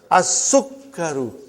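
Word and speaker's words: السُّكَّرُ: As-sukkaru. How will you write down? Make sure you put a shadda and kaf, otherwise you will not be pronouncing properly.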